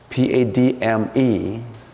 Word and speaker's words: padme: Padme, if you pronounce it right, is Padme.